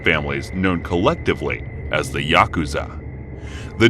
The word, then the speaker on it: Yakuza: The rules of the game are fairly complex, but the worst possible 3 cards to draw are 8, 9, and 3, pronounced Yaku-za in Japanese.